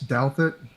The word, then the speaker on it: Douthat: I think that Ross Douthat, that is how you pronounce his last name correctly, I think he